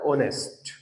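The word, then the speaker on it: honest: है मैं ईमानदार आमी ऑनेस्ट एच साइलेंट रहता है इसमें उच्चारण क्या होता है ऑनेस्ट तो आई एम वेरी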